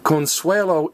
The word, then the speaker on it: Consuelo: and I started laughter I thought oh she said her own name wrong nope Consuelo even though it's a girl's name it ends in O be careful with that